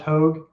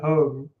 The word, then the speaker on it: Hoog: It's funny though because Hoog is actually pronounced Hoag, and I think you pronounced it Hoag, Josh.